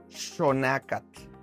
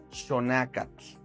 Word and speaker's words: xonacatl: Pero ahora en náhuatl, cuando encontremos una X en cualquier palabra, va a sonar como SH, como un sh. Ejemplos: xonacatl, xonacatl.